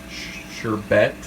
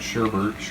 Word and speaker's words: sherbet: for the orange delight sherbet not sherbert's your bag yeah i always say it wrong that much of the